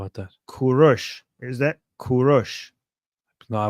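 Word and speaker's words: Kourosh: So, in Persian you say Kurosh, and Israel Jews say Koresh, and Greeks Koresh? say Kyros.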